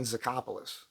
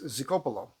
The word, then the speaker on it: Zicopoulos: All right, I grew up saying Zicopoulos, which is not at all correct. It's horrible. It's the incorrect pronunciation, but that's how we grew up saying it. And I went to Greece and I learned it's Zicopoulos. Or Zicopoulos, or Zicopoulos is what it is.